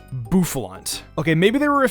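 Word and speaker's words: Bouffalant: Buffaloant. Really? Buffalant.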